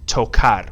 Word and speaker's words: tocar: Now, the infinitive, this verb is pronounced tocar. We have a hard C because before that A, the C is going to be a K sound.